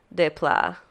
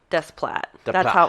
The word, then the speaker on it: Desplat: I don't know how to say his name, but Alexander Desplat. Desplat. That's how it's spelled.